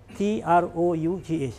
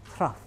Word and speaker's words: trough: h r o u g h that's true t-r-o-u-g-h if I'm second we pronounce it trough trough it's rough viscosity but we are not